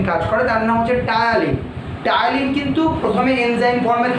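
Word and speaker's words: ptyalin: তাই তো, মুখবিবরে কি উৎসেচক খরিত হচ্ছে বললাম, যে টায়ালিন। তাই তো, উৎসেচকটার নাম কি, টায়ালিন। টায়ালিন বাংলা বানানটা টি ত দিয়ে, ইংলিশ বানানটা একটু অন্যরকম, CTY।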